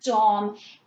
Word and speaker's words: Domme: So again, if we kind of take the word dom and look at it as it's intended, where it's modeled after the French language, it doesn't change the pronunciation of the word.